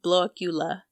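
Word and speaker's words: Blåkulla: on the island of blockula blocula it's spelled like Blacula but it's pronounced like blockula in the Baltic Sea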